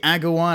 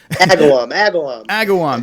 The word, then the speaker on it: Agawam: down it's gonna be Agawan I keep on saying the name wrong but it's gonna be sick it's the last place that just go just go to the website Agawam there you go Pat